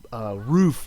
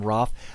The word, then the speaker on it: Roof: I guess the second O is silent. All right, so Dylan Roof. Right. Roof.